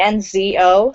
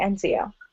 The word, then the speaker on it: Enzo: Enzo. Some people say Enzio. But there's no letter there for that.